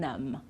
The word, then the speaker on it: numb: of these words climb we don't pronounce the B at the end crumb lamb and numb okay so no B at the end we don't sound it at all okay now tricky consonants